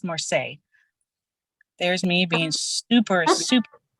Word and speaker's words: Marseille: tarot of Marseille look it looks like more sealies to me but apparently it's pronounced Morse there's me being super